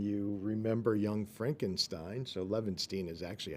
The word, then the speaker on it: Levenshtein: Brooks fan and you remember Young Frankenstein so lanstein is actually how you pronounce it but I say Leen just to